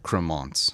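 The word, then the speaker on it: Crémant: Cremant. Cremant.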